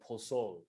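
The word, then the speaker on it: pozol: people makes a drink called prosol which looks exactly like pozzole without the e uh p-o-z-o-l and it's a ground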